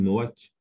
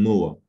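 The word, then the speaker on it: נח: Tandis que Noé, on l'appelle Noach en hébreu, ou quand on ne prononce pas le K final qui est un suffixe, eh bien, ça donne Noah. Sinon, on dit Noka ou Noach.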